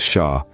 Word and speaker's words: Xia: The Xia dynasty, pronounced as Shah, is like a puzzle waiting to be solved, a story yearning to be told.